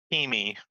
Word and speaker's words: Kimmy: Uh, Kimmy. It's kind of uh, kind of like you say Kiwi but with an M.